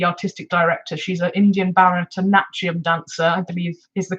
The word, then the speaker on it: Bharatanatyam: Priya Sundar, who is the artistic director, she's an Indian Bharatanatyam dancer, I believe is the correct pronunciation of that.